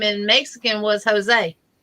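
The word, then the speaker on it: José: name in Mexican was Jose Jose h-o-s-e-a because the J's are pronounced with the h uh they say if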